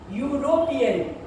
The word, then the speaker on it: European: European. Ye pronounced as yu sound.